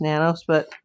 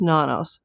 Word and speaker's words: Nanos: And I'm sorry, Chris Nanos, or if we want to say it correctly, the Spanish way, it's nanos. But I've been saying nanos like the media.